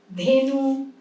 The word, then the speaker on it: ধেনু: অয়ের পরে যখন হর্ষই থাকছিল ওকার বলছিলাম, এর পরে যখন হর্ষই থাকছে বা হর্ষও থাকছে, মানে হর্ষইকার বা হর্ষউকার থাকছে, তখন এ উচ্চারণ করছি, রেণু, ধেনু, ফেনিল, ঠিক আছে?